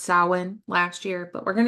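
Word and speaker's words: Samhain: remember it looks like Sam Hayne but it's pronounced sin last year but we're going to do more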